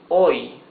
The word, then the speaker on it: hoy: Here it says hoy. Hoy. H is mute, so you pronounce the O and the Y.